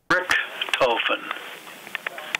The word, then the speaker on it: Richthofen: Richthofen. And that is named for the Baron Walter B. von Richthofen, who founded the town of Montclair.